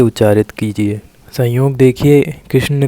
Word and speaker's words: कृष्ण: के किया जाता है जब आप कृष्ण का उच्चारण करेंगे तो आखिरी में जो ना आ रहा है इस ना को अपने जीभ और मूर्धा को स्पर्श कराते हुए किया जाएगा कृष्ण जैसे लड़के में आप